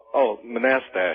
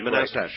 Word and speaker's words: Manastash: How do you pronounce the name of your town, Manastash? Manastash. Manastash.